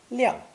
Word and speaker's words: 亮: It's pronounced fourth tone, 亮, 亮.